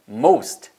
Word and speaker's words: most: 그럼 못 알아 는다니까 most most 그리고 실제로 이렇게 들려요 여러분이 미드나 실제 회화나 이런 거 하실 때도 보면은 most 그래서 t 발음이 거의 안 들리는 거죠 따라해 보세요 맞습니다 most